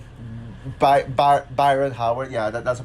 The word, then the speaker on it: Byron Howard: And it's directed by Brian Howard, Byron Howard. Yeah, that's a pronunciation.